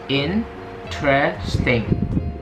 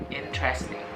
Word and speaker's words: interesting: Dan sebenarnya di sini hanya ada 3 syllable. Jadi kita bacanya interesting, interesting, interesting.